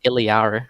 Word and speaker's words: Illari: Thursday was it after yes of course it's pronounced ilyar which I don't think sorry echo says iliari when she transforms into her oh does she